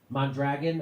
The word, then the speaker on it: Mondragon: It's so the Richard Wolff always talks about Mondragon.